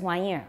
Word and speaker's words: 玩意儿: Who says 玩意儿 with an R? More than half of you then. 玩意儿, 什么玩意儿? Okay, normally I think there should be an R there.